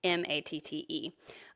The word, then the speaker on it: Matte: And I said, hey, will you look up Tom Matt? It's spelled Matte, everybody, by the way, because